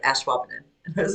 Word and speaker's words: Ashwaubenon: That's like, have you been scrubbing? I've been. I got it. I hear it. I've been washing.